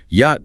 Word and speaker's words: yacht: This word comes to English from Dutch or possibly lowger German, which is why it retains that strange silent he spelling that an English speaker would normally sound out. Yacht just means a luxurious